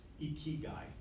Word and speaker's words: ikigai: I pronounced it wrong. Ikigai. Ikigai.